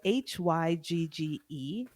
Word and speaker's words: hygge: So hygge is spelled Hygge because it's a Danish word and we don't understand those letters together, but it's Danish, right?